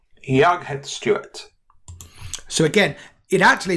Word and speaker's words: Jag heter: It's Jag heter Stuart, pronounced Yetter Stuart.